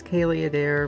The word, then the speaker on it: Caileadair: just call me it's longer it's Kay a dare but it's like not that not that easy for people to figure out how to say it so I'm like H